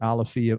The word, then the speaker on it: Alafia: out it's called it's it looks like a lafayette but it's pronounced alafia or alafia or alafaya alifia yeah i thought so